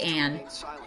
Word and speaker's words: Ann: that name outside of persona 5 i say anne but they went with on in this game because technically that's how they